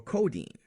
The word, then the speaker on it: codeine: Another group of exceptions are scientific words with EIN in them, like protein, caffeine, or codeine. It's spelled EI but sounds like a long E.